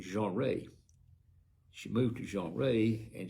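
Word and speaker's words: Jeanerette: It's spelled Jeannerette, and I would call that Generetti, but they call it Jeanrette.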